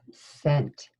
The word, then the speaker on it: scent: Next word, our next word is scent. It's another one of our our letter pair that has a silent letter.